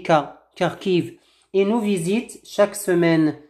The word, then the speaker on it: Kharkiv: Ils habitent Kharkiv, voilà, donc KH, on le prononce Kha, mais en français on dit Kharkiv.